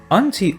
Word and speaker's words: auntie: l house of their auntie a u are auntie and uncle who live by the c e a is a long e anti or n t as different pronunciation as well auntie is their mother's